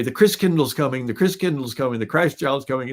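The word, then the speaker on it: Christkindl: come from the Christ child and the German pronunciation of Christ child is Chris Chris Kindle like kindergarten Kinder kind means child Chris means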